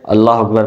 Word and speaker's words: اللہ اکبر: کو درست کریں۔ چلیں میں سب سے پہلے اللہ اکبر پڑھتا ہوں جو صحیح والا ہے، اس کے